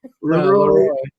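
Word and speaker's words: LeRoi: becomes air Baraka Leroy Leroy Leroy Jones sorry Leroy Jones I never it well it's spelled l e r o i that sounds lerooy Jones sorry okay uh very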